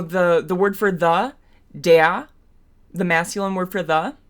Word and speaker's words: der: It's not der. It's not d. It's not d. It's de. And that vowel sound is similar to the American English schwa, which is uh uh it's just that very neutral vowel sound with your mouth in a very um neutral resting position.